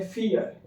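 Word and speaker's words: vier: वैसे हम इसको बोलते हैं इंडिया में फोर बट जर्मन के लोग इसको बोलते हैं फियर।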